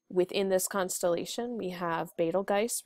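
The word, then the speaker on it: Betelgeuse: that are named within this constellation we have balge right here some people often pronounce this as Beetle Juice but it's actually balge and this is a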